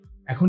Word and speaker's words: এখন: যে এখানে এ রয়েছে এরপরে যদি অ থাকে সেটাতে হচ্ছে একারের উচ্চারণটা এ হয়ে যায় যেমন এখানে রয়েছে কি এ এরপরে কি রইলো অ এখন এটা কিন্তু আমরা এখন বলবো না এটাকে আমরা বলবো এখন অর্থাৎ এ এর উচ্চারণটা এ হয়ে যাচ্ছে এ এর পরে যখন